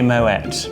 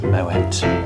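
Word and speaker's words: Moët: No, a lot of people mistakenly think it's pronounced Moet, but it is actually Moet because the French founder of the Champagne House actually has Dutch origin, and so it is pronounced Moet.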